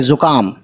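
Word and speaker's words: زکام: तो जे पे पेश है, तो जू काफ और अलिफ, ज़ुका और मीम खाली, यानी मीम खाली का मतलब है कि न ज़बर न ज़ेर न पेश, यानी मीम पे बस आवाज़ रख देनी है माँ की, ज़ुकाम, ज़ुकाम।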